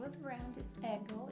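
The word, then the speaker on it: Aigle: these Fabrics the name of the round is ego it's spelled a-i-g-l-e originally it's a French brand but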